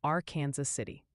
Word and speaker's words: Arkansas City: And a friendly tip for them, viewers say Arkansas City, Kansas is pronounced our Kansas City.